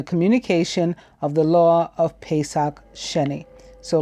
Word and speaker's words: Pesach Sheni: resulted in the communication of the law of Pesach Sheni so like a delayed so ver and it